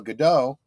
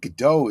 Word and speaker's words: Gadot: See, I think Godot is a French pronunciation. I don't think that's how it's intended.